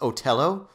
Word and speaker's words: Othello: It's Othello. I believe it's pronounced Otello. Well, I pronounce it Othello.